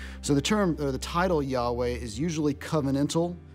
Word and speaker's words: Yahweh: are a variety of theories as to why we should vocalize it Yahweh and not something else while we should pronounce it as the word Yahweh one prevailing one that